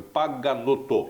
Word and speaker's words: Paganotto: De frente com a notícia, estou aqui de frente com o coronel, eu não quero pronunciar errado o seu nome, Paganotto.